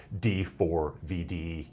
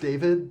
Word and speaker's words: D4vd: to this guy as D4 VD Anthony Burke. He he apparently goes by he says it is pronounced David but D4VD is also an acceptable pronunciation.